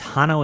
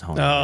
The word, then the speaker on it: Hono: Because you keep saying Hano, it's Hano in my brain now permanently, and I always Google it with an A, and then I'm like, oh no, it's Hono.